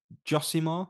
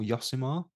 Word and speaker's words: Josimar: for a challenge on josimar or yosimar however you choose to pronounce it um not really